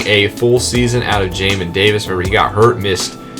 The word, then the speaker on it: Jamin Davis: sorry for tackles now for the second level yamin davis or jamin davis sorry i always pronounced his name wrong he had 101 tackles was very good having a full season out of jamin davis where he got hurt missed about 60 65